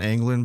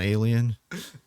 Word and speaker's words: Angland: so jellen yeah so his name is John angland by the way not John alien John angling uh uh